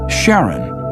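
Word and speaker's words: Charon: Christy suggested the name Karen after the Ferman of Pluto's underworld in Greek mythology but preferred to pronounce it Sharon more like his wife's name Charlene from the Motions of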